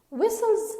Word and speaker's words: whistles: luke whistles to them whistles again the sound is silent and the sound is silent so it's whistles moving as a unit